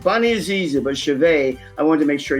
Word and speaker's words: Cehovet: And she spells her last name C E H O V E T, but it's pronounced Chaveet. Bunny is easy, but Chaveet, I want to make sure you get the spelling right.